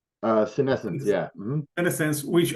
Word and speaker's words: Senescence: called, let me see if I pronounce it right, Senescence. Senescence, yeah.